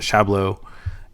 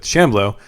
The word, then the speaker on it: Shamblo: Three damage from the the other guy, the other unit, the Shabau. And uh sorry, Shamlo. I feel bad for um pronouncing my main boy's name wrongly, but Shamblow.